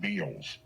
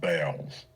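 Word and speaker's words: Bealls: Antic was arrested after stealing clothes for her children at Beals. B-E-A-L-L-S. Beals. Everybody here pronounces it Bells. I'm saying you're wrong.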